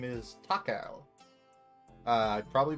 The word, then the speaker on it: 隆夫: Takao. 随分お若いようですが。 That's his name. That's how it's pronounced.